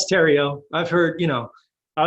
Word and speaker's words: Theriot: i got it right cajun french from way back provincial french you know the um the h is silent but people i mean